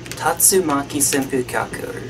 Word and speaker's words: Tatsumaki Senpukyaku: I think that it's actually pronounced Tatsumaki Senpukyaku or something like that.